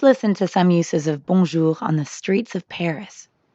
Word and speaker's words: bonjour: In fact, the N isn't really pronounced at all.